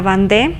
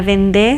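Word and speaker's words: Vendée: esto sucede es en la bandé o la vendé según la pronunciación que fue el bastión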